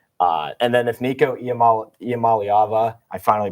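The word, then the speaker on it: Iamaleava: behind Jey but uh and then if Nico ialam malava I finally pronounced it right if he can finally you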